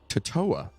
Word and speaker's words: Totowa: That's what they had the little pronunciation thing. I'm like, it's Totowa.